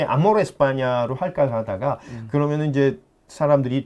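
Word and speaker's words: España: 그러나 아무래도 모든 발음이나 이건 영어식 발음이니까 그러니까 저희가 이제 스페인은 너무나 알려졌겠는데요. 이제 저희는 웬만하면 에스파냐.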